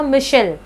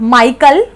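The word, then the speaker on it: Michel: इनका एक्चुअली नाम था मिशेल, इट इज़ नॉट माइकल, माइकल मत बोलना, माइकल का CHAEL होता है, ठीक है, ये CHEL है, ये मिशेल है, मिशेल फुकॉल्ट, फुकॉल्ट बोल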